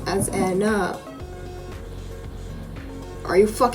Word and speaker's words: Ena: is the s look as this is the spanish phonetic pronunciation of the word however it has also